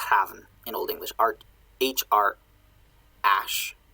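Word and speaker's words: hræfn: The F is pronounced like a V.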